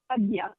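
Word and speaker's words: Ajna: third ey in India they call that the Aya chakra that's spelled a j n and it's is pronounced Aya Aya chakra which is located in the middle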